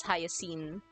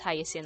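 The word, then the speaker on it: Hyacine: I was pronouncing as hyene which I realized the other day was kind of dumb because there's a hyasin flower. So yeah should be pronounced hyasin.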